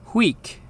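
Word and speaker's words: huic: but pronounced prum finally UI which is pronounced we it's kind of like the sound we make when we're going down the roller coaster so the word that means to this spelled hu i c is pronounced weak okay so that should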